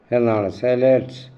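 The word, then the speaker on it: Zealots: SEALOUTS സെലറ്റ്സ് എന്നാണ് അതിൻ്റെ ഉച്ചാരണം, അങ്ങനെ പറയുന്നത്.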